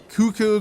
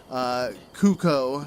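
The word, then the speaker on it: Cucco: Like, just pretty much research on how I should pronounce cuckoo, because I was calling it cuckoo, since that's how most people pronounce it.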